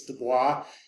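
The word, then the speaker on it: Du Bois: popular spokesperson and I do not send me emails about I'm pronouncing that wrong it's de Bois he pronounced it the Bo and so if he pronounced it Deo it's Deo Deo he had the exact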